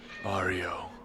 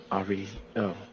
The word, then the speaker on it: Ario: Ario. Ari. Oh, Ario. to that. How do you spell it?